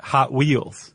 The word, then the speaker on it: Hot Wheels: Hot Wheels. Oh, instead of Hot Wheels. Yeah. The emphasis is on the hot.